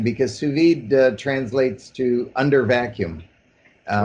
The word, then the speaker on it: sous vide: So tell me a bit about, and tell me if I'm pronouncing this right, sous vide.